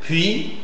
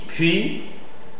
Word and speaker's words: puis: Et c'est vrai qu'il y a une prononciation un peu plus euh sourde en contact avec une consonne sourde précédente. C'est le cas des puis puis fuir fuir tu es tu es tu es.